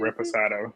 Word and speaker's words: reposado: Reposado.